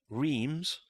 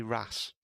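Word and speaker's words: Reims: Reese for one well here's one for you Reams in France yes is actually Ras is it but it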